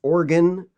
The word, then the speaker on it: Oregon: It's pronounced Willamette and it's Oregon, like organ in your body.